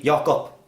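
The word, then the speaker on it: Jakob: can mispronounced a lot if I would go to America people would probably call me Jacob because that would be my name but they wouldn't pronounce it in Swedish which would be your cup they wouldn't they wouldn't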